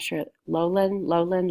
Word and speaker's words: Loughlin: Felicity Huffman and Lorri Lohan I'm not sure lowland Lola and lalin have been charged in the scam dumped out of pronounce Lori Loughlin okay so she and her husband Massimo grenouille